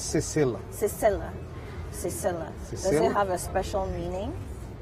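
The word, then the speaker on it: Sesel: all these cultures so how do you say shells in creole creole it's cecil doesn't have a special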